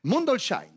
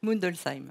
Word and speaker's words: Mundolsheim: Je vais me lancer dans la prononciation de cette ville alsacienne parce qu'il faut que je m'y mette petit à petit. Mundolsheim. Non. Non. J'avais une chance sur deux. Alors on dit comment ? Mundolsheim.